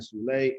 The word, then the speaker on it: Zulay: It's Zulay, like July, yeah.